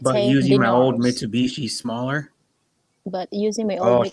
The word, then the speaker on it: Mitsubishi: he's a TikToker, but he pronounced a name of the cars very funny. So he'll say like Mr. Bushi. Mitsubishi. Instead of Mitsubishi.